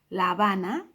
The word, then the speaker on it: La Habana: Now we come across now a city, two words, but the second word starts with a H, therefore silent, La Habana.